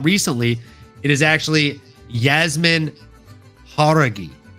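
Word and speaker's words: Jauregui: Please forgive me, my girl Yasmin Yaraguay. That is a very valiant effort. That is how I used to pronounce it. But I found out recently it is actually Yasmin Haragi. Haragi.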